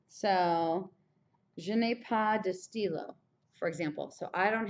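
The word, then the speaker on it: stylos: je n'ai pas de stylo, and it would just have an S on the end. You don't pronounce the S though, but je n'ai pas de stylo, even like that.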